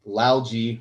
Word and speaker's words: Lalgee: I've got Joel Lalgee with me today.